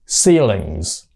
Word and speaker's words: ceilings: Rồi, số nhiều của nó thêm chữ S vô và nó đọc là phát âm là chữ Z, ceilings.